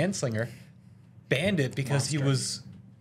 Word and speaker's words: Anslinger: 1937 uh Henry J anslinger I'm going to pronounce it right this time Henry J and Slinger banned it because he was so racist against